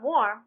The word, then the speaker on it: warm: har charm Barm alarm we pronounce War as arm Tommy perceives that such a pronunciation is wrong and vulgar and sees that all these words are sounding like arm but not one of them like warm that is he sees